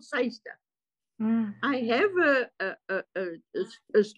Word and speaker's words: Cyster: it SOC I don't know I'm just called seister I have a a as one of the